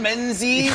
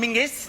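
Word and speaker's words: Menzies: got that's men's menes John menes but apparently men go let's go to John mingis they don't do it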